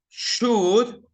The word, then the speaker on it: should: You remember, should, we don't pronounce the L. Would, we don't pronounce the L. And in could, we don't pronounce the L. So the L is silent.